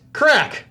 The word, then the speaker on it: craic: and living in ireland crack pronounced crack ha is an irish word for epic times and laughs with friends use our sauce to